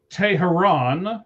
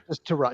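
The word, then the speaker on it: Teherán: So, uh, Julio Teharon is how you actually say it. Tran. No, it's Terron. No, it is. Look how it's spelled. She look at the notes. Look how spelled. Everybody says Tran. It's not Tran.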